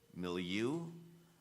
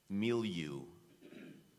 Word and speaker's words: milieu: contestant number 81 Owen your word has two correct pronunciations milieu milieu knew you m i l i